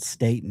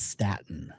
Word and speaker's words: Stayton: If you write out my name and phonetically speak it out, it is not Staten, it's Staten. You have to spell it Stayton.